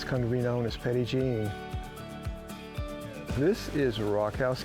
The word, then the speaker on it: Petit Jean: They pronounced it Petit (jun). In Arkansas, it's come to be known as Petit Jean.